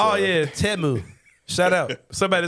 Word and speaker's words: Temu: As far as commercials were concerned, we know how to pronounce Temu now. It's, yeah, Temu.